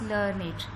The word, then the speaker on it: learned: The second word is learned, which means is well educated, highly qualified, usually written as learned and pronounced with two syllables, learned.